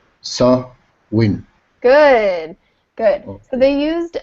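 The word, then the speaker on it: Samhain: harvest season with a festival called Sam hyen pronounce s win good good so they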